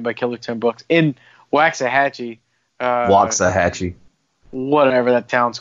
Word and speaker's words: Waxahachie: Yeah, I had no idea he was trained by Killer Tim Brooks in Waxahachie. Waxahachie. Whatever that town's called. It used to be cool. Now it's now if you're ready to end Waxahachie.